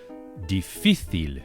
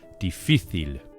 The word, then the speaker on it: difícil: Difícil, with the accent or the stress on the middle syllable, on the middle I. Difícil. The letter C in Spanish, as you know, is softened by an E after it. It's also softened by the letter I, as we can see in the word difícil. However, in Latin American countries, the soft C is always pronounced as an S, so we get difícil instead of difícil in Spain.